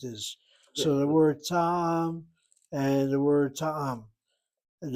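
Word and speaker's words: טעם: Taim? What about No, taim? ta'am, not ta'im, ta'am.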